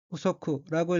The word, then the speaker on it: 不足: 다음 어휘는 한자가 부족이고 일본어로는 후소쿠라고 읽으며 후소쿠는 부족이란 뜻의 명사 또는 형용동사 및 수로 자동사입니다.